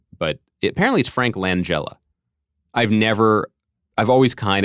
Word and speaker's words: Langella: I mention it but it apparently is Frank Langella I've never I've always kind of hemmed or hot it but it's Langella okay and there were a couple of you